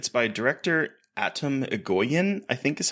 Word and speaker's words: Atom Egoyan: It's by director Atom Egoyan, I think is how you pronounce his name.